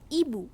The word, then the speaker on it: hibou: অর্থাৎ HOMME not home এর উচ্চারণ হবে ওম। ওম মিন্স মানুষ। HIBOU নট হিবু, উচ্চারণ হবে ইবু।